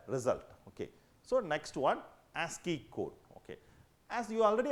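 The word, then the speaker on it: ASCII: So, next one ASI code. Okay. As you already aware about that, this is one of the coding American standard code for information interchange. It is pronounced as ASI code.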